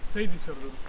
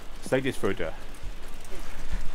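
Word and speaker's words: Seyðisfjörður: Seydisfjordur. Seydisfjordur.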